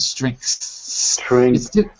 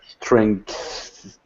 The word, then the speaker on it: strength: that S at the end strength it's hard it's really hard because you have to say g s back to back string it's difficult Str yeah that's it